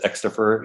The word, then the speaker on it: Xstofr: And everybody says Xstofr, including my kids. But that is how it's said.